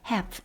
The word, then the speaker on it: half: 오늘 주어진 시간에서 half, 절반을 have, L 묵음이죠. have my time on 이것에 on the culture's understanding of identity.